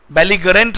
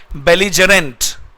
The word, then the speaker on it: belligerent: इसका सिनोनिम में है, इसे पढ़ते हैं BELLIGERENT, बेलिजरेंट। बेलिगरेंट नहीं है, इसका प्रोनाउंसिएशन होता है बेलिजरेंट, बेलिजरेंट या फिर एग्रेसिव।